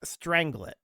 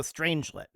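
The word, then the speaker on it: strangelet: it is apparently pronounced stranglet. Okay. With the fir well strangit m actually it's unclear the first syllable like strange and the second syllable like lit. So stranglet.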